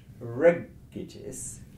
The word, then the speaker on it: regitis: The final syllable you would never stress. The one before, it, is a short syllable, and it contains a short vowel, so you mustn't stress that. You have to come one further back, and you get to the first syllable, re, so regitis.